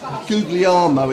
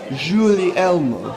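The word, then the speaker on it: Guglielmo: Italian Guys in chelsford googly armo it can't be like googly no it's it's Julie Elmo jees like julmo juli Elmo and I just keep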